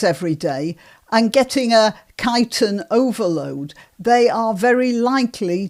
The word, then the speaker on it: chitin: it's a substance called kiten which looks like it should be pronounced chitin but it's pronounced kiten and it is uh